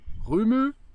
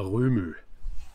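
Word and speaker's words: Rømø: Man sagt aber immer Röhmö. Die sagen Röhmö. Wird das nicht so, auch so geschrieben? Ja, geschrieben wird das so, aber ich glaube, das wird Röhm ausgesprochen.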